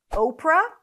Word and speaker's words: Oprah: If we talk about Oprah Winfrey, you want to start with a long O as in go, O, and then finish it with pra, pra, pra, Oprah.